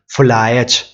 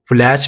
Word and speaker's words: फुलायच: Next question, फुलायच, देखो फुलैच भी बोलते हैं समटाइम क्वेश्चन में, फुलायच या फुलैच, फुलायच, ठीक है, किसी भी तरह से इसको प्रोनाउंस जो है वो लिखा जा सकता है वर्तनी में।